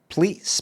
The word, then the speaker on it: pleat: Pleats, plaits. How do you pronounce it? If that's what it is. Do you pronounce it pleats or plaits?